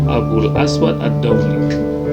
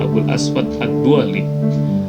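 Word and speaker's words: أبو الأسود الدؤلي: Persisnya adalah nama alim tersebut atau nama ulama tersebut bernama Abul Aswad Ad-Dauli, atau sering juga orang-orang membacanya Abul Aswad Ad-Duali. Nah, ini juga perbedaan cara membaca.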